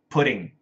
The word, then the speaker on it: pudding: Pudding. Pudding. American pronunciation. Pudding. Pudding. Just like p u t i n g. pudding. Pudding. When we say it fast.